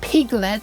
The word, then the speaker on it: Pyglet: Pyglet, which is clearly meant to be pronounced Piglet, so now it's Piton to draw in real time onto a window.